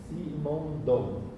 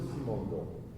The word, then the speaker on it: Simondon: f i n o n d o n simondon assim como se fala se escreve é o nome dele é Gilber Gilber